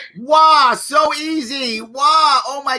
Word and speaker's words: Waugh: The one, the only, help me pronounce the last name. Waugh. Waugh, so easy.